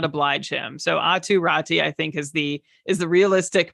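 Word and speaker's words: Aatu Räty: Okay, well, it's a little confusing because, yeah, you pronounce his name Atu Ratu in Finland, but the last time, like in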